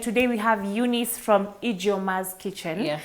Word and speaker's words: Ijeoma: Remember guys, you're watching What's In Your Kitchen and today we have Eunice from Ijeoma's Kitchen. Yeah, please. Am I pronouncing that right?